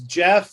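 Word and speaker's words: Jeph: are you doing uh my name is jeff it's spelled j-e-p-h um i live in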